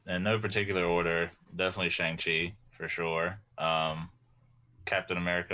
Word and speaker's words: Shang-Chi: care about oh no not you cody uh shang chi for sure um thor ragnarok and uh guardians of the galaxy one oh that's your knight three right uh it's chongchi actually it's pronounced manga ragnarok also with cody i love